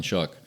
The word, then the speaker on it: Shuck: Does he spell it like show? No, he spells it SHUCK. Yeah, Like you shuck an oyster.